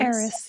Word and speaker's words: Aris: And then Aris is going to, am I pronouncing her last name right? Aris? Eris, yeah.